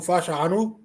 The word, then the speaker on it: Fashanu: Oh, Fasciano? Fashanu.